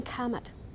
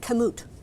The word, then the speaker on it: kamut: eating talking back here growing Comet I didn't say it right kamut right kamut is one of